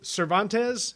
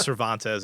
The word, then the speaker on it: Cervantez: the u.s god my guest today is cervantes am i pronouncing that correctly you are yeah is it